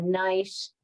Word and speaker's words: gneiss: So, a shale turns into a slate, which turns into a schist, a gneiss, spelled with a G, it's a silent G, and then finally a migmatite.